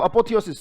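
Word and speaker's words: apotheosis: इसमें देखो अपोथियोसिस, स्पेलिंग याद हो जाएगी। अपो कैसे बोलोगे? थियो कैसे बोलोगे? सिस कैसे बोलोगे? अपो बोलना, थियो बोलना, सिस बोलना, अपोथियोसिस पूरा बोलना।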